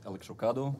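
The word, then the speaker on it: Electrocado: bill AKA electro do I pronounce it right is electro kado yeah okay - yeah electric kata is good it's like avocados probably probably one of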